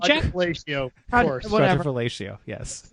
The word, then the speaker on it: Quadrifoglio: So car and drivers long-term Julia Quadrifoglio pronunciation check. Quadrifoglio, of course.